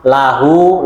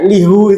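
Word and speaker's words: له: ketika bersambung dengan kata ganti selain ya maka Bacanya apa la lahu Laha laka lakuma lakum laki semuanya bacanya La kenapa kok la wallahuam belum sampai sana ilmunya ya memang enaknya begitu kalau Liha enggak enak lihu itu kayaknya orang Arab engak asing itu lihu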